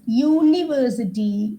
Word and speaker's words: university: uniform that's wrong because University uni form when you spell these words you will understand U yah that yah sound is coming out okay so in Hindi